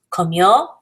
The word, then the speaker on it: comió: With comió, that el, ella, usted form, make sure you note that the accent is over the O. It's not over the I.